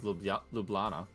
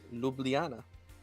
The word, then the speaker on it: Ljubljana: uh js don't actually js don't actually make sounds in the slovenian language it's uh i guess if i were to if i were to ignore consonants i can't pronounce that as lublana it's it's ljubljana now why write the